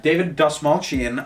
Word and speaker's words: David Dastmalchian: But it's David Dastmalchian, I believe is how you pronounce his name.